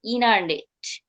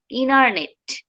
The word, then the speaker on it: internet: হচ্ছে আমরা যেটা প্রোনাউন্সিয়েশন, যেমন ইন্টারনেট, INTERNET, এটা হচ্ছে বানান, স্পেলিংটা আমার ঠিক থাকবে। বাট আমি যদি বলি ইনারনেট, ইনারনেট, এটা যখন প্রোনাউন্সিয়েশন করবো it like that, ইনারনেট, just that's why is vanishing T.